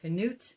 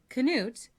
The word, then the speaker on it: Canute: The first is that I can claim an ancient lineage to the great Viking king Canute of England, Denmark, and Norway.